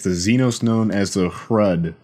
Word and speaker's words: Hrud: Xenos known as the Hrud. Now the Hrud, that rhyme with Kurud, that was stupid, are downright 100% Xenos tomfoolery.